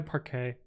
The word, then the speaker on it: parquet: you meant uh also i'm pretty sure i'm pronouncing park it wrong it's probably parkay i don't [ __